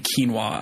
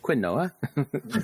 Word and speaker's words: quinoa: Y I still remember saying quinoa out loud the first time at the grocery store in front of somebody and then being like, "No, bud." Um, actually, you have Quinn Noah.